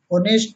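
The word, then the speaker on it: honest: एच के just बाद यदि ओ आए तो प्रायः एच साइलेंट रहता है। जैसे ऑनर मीन्स सम्मान, ऑनेस्ट मीन्स ईमानदार, आवर मीन्स घंटा।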